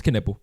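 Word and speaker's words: Knueppel: But I'm saying like we can't expect Ken nipple or whatever. How do you say his name? It's Keniple.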